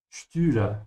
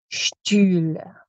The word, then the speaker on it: Stühle: Stühle. Stretch your tongue forward. Stühle.